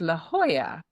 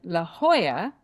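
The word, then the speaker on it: La Jolla: good laugh out of, it's a town called La Hoya. Okay? And that's with a J O L A at the end. So Americans call it La Hoya.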